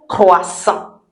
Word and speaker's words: croissant: And then we'll add the last one which doesn't sound like English, a croissant. A croissant. Now let's look at it. A croissant. Croissant. Because o i sounds wa.